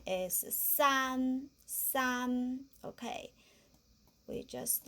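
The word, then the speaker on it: 三: We just, how to pronounce this? Pinyin, we just say san, but if we haven't learned pinyin, just like the English, or just say see, s. And an, just we say run.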